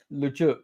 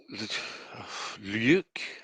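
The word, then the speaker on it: Ljuk: So, we start the journey on a boat to Lujuk. Well, it's spelled L-J-U-K. Do you think you pronounce that Lujuk? Luke. Luke? Look, Luke. it's probably pronounced in the Scandinavian fashion, Yeah, isn't it?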